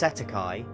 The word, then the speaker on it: cestui que: In New Zealand and Australia, this is commonly referred to as cest tuiquy trust pronounced setti.